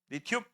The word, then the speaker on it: 리튬: 3번 같은 거는 Li라고 쓸 거고 읽을 때는 리튬이라 이거 리튬 li 야, 모든 원소 기호는 첫 글자는 무조건 대문자인 거 알죠?